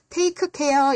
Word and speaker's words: take care: Take care 이렇게 다 하지 마세요. 이렇게 자음이 끝에 나올 때 발음을 다 하지 않아요.